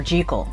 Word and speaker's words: Jekyll: I almost forgot that in the original they pronounce his name jical it was Dr jekal and then for some reason over the years it's now Jekyll I forget which one